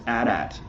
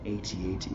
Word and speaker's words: AT-AT: this is that George Lucas prefers that it's pronounced a DAT which I thought was interesting because usually he's